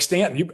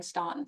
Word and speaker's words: Staunton: I was thrilled you pronounced Stanton correctly. I had to practice. That's a big one. I practiced because I've said it wrong till somebody finally had the heart, and I was very appreciative that they correct me because I was saying Staunton for the longest time.